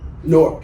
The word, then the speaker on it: Newark: Newark, if you're from here. That's right. We had another young gentleman talking about the pronunciation of the town that we were from, the brick city.